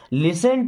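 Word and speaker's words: listen: सभी का स्वागत है लिसन टू दिस यहां पे टी साइलेंट होगा इस वर्ड में इसे पढ़ेंगे लिसन लिसन to this means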